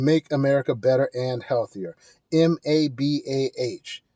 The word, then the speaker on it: MABA: M A B Ah, it's pronounced MABA, rhymes with MAGA, but it's a lot better.